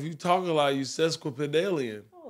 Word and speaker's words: sesquipedalian: I get a drum roll please what sesquipedalian it's a good one but aliens susque pedalium